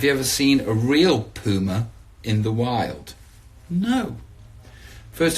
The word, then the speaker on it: Puma: tracksuit that I have on that's right kids Puma nobody in England who like me for pronouncing it that way but I spoke to